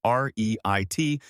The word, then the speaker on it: REIT: real estate investment trust, commonly abbreviated as a REIT and pronounced like the word REIT.